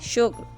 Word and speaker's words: شکر: ختم، جذب۔ لفظ ہے شکر، جس کو عام طور پر شکر بولا جاتا ہے۔ اس کا صحیح تلفظ ہے شین کے اوپر پیش، کاف ساکن، رے ساکن، شکر۔ اس جیسے اور لفظ